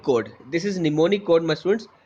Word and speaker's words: mnemonic: Code and डी इज mnemonic code. This is mnemonic code, my students. It's the spelling start with M. Okay, but the M is silent, so it is called mnemonic code.